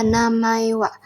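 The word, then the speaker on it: お名前は: Nah, selanjutnya ada namaewa. Nah, kenapa namaewa sini pakai H? Karena di sini partikelnya wa. Jadi H itu dalam partikel dibacanya menjadi wa ya teman-teman.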